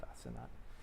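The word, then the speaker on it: Asenath: I think it's pronounced Asenat.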